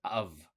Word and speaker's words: have: So this right here the pronunciation is of of.